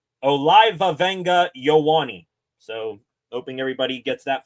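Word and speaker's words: Olaivavega Ioane: His pronunciation of his name, Olivavenga Ioane.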